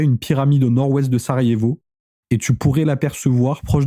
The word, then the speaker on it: Sarajevo: Le J c'est le Y Narvalo. Ça se prononce Sarayevo pas Sarajevo.